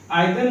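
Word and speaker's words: either: आइदर नाइदर का pronunciation बहुत लोग ईदर और नीदर कहते हैं, आप कह सकते हैं, कोई दिक्कत नहीं है।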